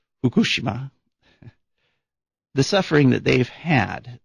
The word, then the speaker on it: Fukushima: Fukushima are I guess the correct Japanese pronunciation is Fukushima the suffering that they've